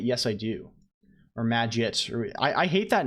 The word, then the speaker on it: Magit: Or I hate that name because either it's pronounced maggot and it has the git part is pronounced properly and it sounds like maggot, or it's pronounced like maggot and the git part, which is the crucial part, is not even said properly.